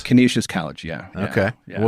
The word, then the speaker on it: Canisius: You went to, is it pronounced Canisius? Canisius College, yeah.